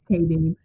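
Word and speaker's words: Taye Diggs: Is it Tay or Ty? It's Tay Diggs, yeah.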